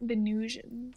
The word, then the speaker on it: Venusians: Venusians. Ooh. Venusians. It's like Venetians, but they're from Venus.